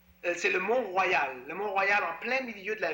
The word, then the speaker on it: Mont Royal: Le Mont Royal en plein milieu de la ville avec une croix.